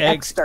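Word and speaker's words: Exeter: I thought you said Exter. E-X-E-T-E-R. I'm saying Exter.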